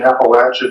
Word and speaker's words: Appalachia: missionaries um so I'm gonna use the pronunciation appalache because well it's right let's all say it